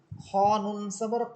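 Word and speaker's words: الخناس: খ নুন সাবর খন, এখানে নুন হরফের উপরে আছে তাসদীদ, জবরের পর তাসদীদ, নুন হরফের উপর তাসদীদ, জবর অর্থাৎ হরকত, হরকতের পর নুন হরফে তাসদীদ, এখানে গুণনা হবে।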